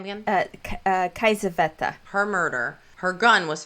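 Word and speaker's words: Kiesewetter: Kaisaveta.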